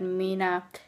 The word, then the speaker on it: Mina: for social media into not Mina, but Mina, if you want to pronounce it the English way, it's Mina.